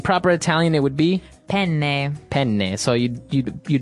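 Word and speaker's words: penne: Italian it would be pen pen so you you you double pronounce the consonant yes what about fuini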